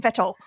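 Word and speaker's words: Vettel: how they say Sebastian fetal Sebastian fetal was it fetal it's spelled with a V but pronounced with a V it's SP spelled with a V pronounced with an F pronounced like an F Sebastian vetto okay so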